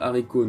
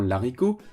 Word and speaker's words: haricot: nous dit je cite le h de haricot est aspiré c'est à dire qu'il interdit la liaison impose que ce mois soit prononcée 10 juin de celui qui le précède au singulier comme au pluriel on écrit et dit le haricot non la ricoh un beau haricots non un bel haricots fin de citation ce